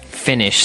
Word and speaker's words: Finnish: So, that's the way that that you say Finnish. with double N. Right. That's right. It's not like I finished my homework. It's like f I N I S H. Finish.